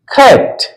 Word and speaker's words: cat: आगे हम लोग लेते हैं, टी है, CAT, खैट, CAT, खैट। केट नहीं बोलेंगे, खैट। ए का यहां पर उच्चारण ए के समान होगा।